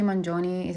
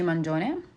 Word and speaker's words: Mangione: nonviolent and on a side note Luigi Manon is actually pronounced Luigi Manon but for the sake of the episode I